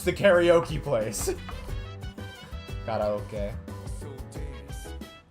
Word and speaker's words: karaoke: Karaoke. It's because that would be how it's pronounced in Japanese, is karaoke.